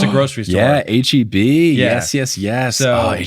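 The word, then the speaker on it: H-E-B: Um, my teams got the opportunity to play at the Is it HB Center or how do you pronounce? I know it's a grocery store. Yeah, HB.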